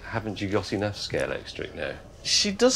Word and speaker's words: Scalextric: And Scalex plus electric became Scalextric. And that's why nobody can pronounce it properly. Well, they all do it the wrong way around, yes. Everyone says Scalextrics.